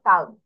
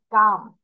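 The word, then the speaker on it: calm: কাম বানাতে খেয়াল করো সি এ এল এম এখানে কিন্তু এল এর প্রোনাউন্সিয়েশন হচ্ছে না। কিন্তু আমি কিন্তু বলতেছি না কাল আমি বলতেছি কাম। এল এখানে উজ্জ থাকতেছে। মানে এল এর উচ্চ হবে না।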